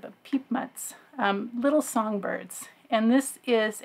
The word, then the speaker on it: Piepmatz: I saw how to pronounce it in one of the forums on BoardGameGeek, and not the way that a native English speaker like myself would think to pronounce it, but Piepmatz.